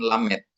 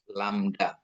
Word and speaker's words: lambda: Lambda ya kayak dalam bahasa Yunani itu lamet gitu ya mirip dengan Lamet. Lamda maaf bukan Lamet ya ee apa ya gemail.